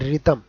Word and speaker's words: rhythm: Then this one ఈజ్ రిథమ్, ఇక్కడ కూడా RHYTHM రిథమ్ అవుతుంది.